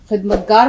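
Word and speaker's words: ख़िदमतगार: अब यहाँ देखिए, सेवक आपको मालूम है, खिदमतगार मालूम है, लेकिन खिदमतगार का सही उच्चारण वही हलक से, खे की आवाज, काफ की आवाज हमारे हलक से निकलती है।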